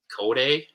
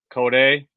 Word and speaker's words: Kodai: I think it's Kodai. Kodai.